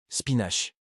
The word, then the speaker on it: spinach: Et les épinards qui ont rendu popaille si fort, on dit spinache. Le éche à la fin se prononce tesch.